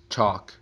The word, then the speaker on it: chalk: tall, wall, small, mall, chalk, walk, talk. Você pode perceber que as 3 últimas palavras, o L é silent, ou seja, é mudo, não é pronunciado.